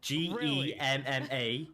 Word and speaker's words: Gemma: understand the English dictionary g-e-m-m-a is pronounced Gemma Anna mayor but we're